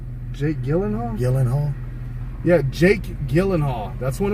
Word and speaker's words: Gyllenhaal: Gyllenhaal? Jake Gyllenhaal? Gyllenhaal.